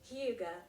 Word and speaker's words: hygge: Alors déjà faisons un point sur comment ça se prononce. Hugo. On va dire Hugue tout le long du podcast, mais en